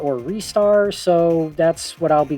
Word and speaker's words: Ristar: A lot of people say Ristar like Rising Star, which, yeah, that does make a lot of sense.